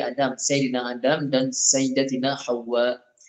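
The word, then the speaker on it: حواء: Nabi Adam, Sayyidina Adam dan Sayyidatina Hawa. Dia ejaan dia ha waw sabdu alif hamzah. Ha pedas waw sabdu alif hamzah. Hawa gitu. Hawa.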